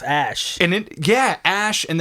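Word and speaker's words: Æ: and then he's like that's pronounced ash in it yeah ash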